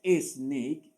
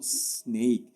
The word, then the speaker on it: snake: No es snake, porque aquí no hay ninguna E, sino snake.